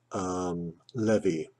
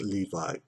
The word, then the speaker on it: levee: She used the word levee in one of the lyrics she gave me, and in my ignorance I pronounced it Levi.